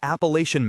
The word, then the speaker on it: Appalachian: These are people from the Carolina Hill Country, the Appalachian Mountains, to be precise. Spunky was relieved that he pronounced Appalachian correctly. Appalachian, not the northern affectation Appalachian.